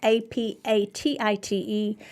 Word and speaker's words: apatite: everything during the holidays, apatite, it's not spelled like the word, but it is apatite.